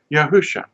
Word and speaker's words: Yahusha: course going in this direction Y and it's pronounced yahusha see the first three letters yaho yah Sha